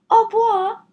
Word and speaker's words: au revoir: Au revoir. You say it like this. Au revoir. That's French for goodbye.